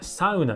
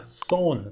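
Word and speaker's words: sauna: 文字通り読んだらサウナですよね、サウナ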